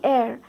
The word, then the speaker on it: heir: H is silent over there. Only heir.